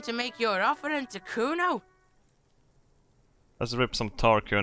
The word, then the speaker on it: Kuno: me to nick it kuna no i didn't it's kuno say it right say it like it's said pretty lame orenese name